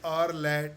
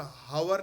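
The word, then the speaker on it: hour: ही इज एन आवर late, और इसका sound क्या, हावर नहीं आ रहा, आर, OUR, H is silent, H silent है, साउंड क्या आ रहा, आ साउंड आ रहा है, तो क्या आएगा एन।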